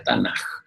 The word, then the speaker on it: Tanaj: Las tres palabras conforman ese acróstico que se pronuncia Tanaj.